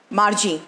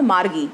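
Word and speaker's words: Margie: बच्चों एक चीज़ और मैं आपको बताऊंगी, जब आपके स्पेलिंग में जब भी जी के बाद आई ई होता है तो उसका प्रोनाउंसिएशन जाई की तरह से होता है, ना कि वहाँ पे गी की तरह से होता है. ठीक है. तो this is मार्जी, this is नॉट मार्गी.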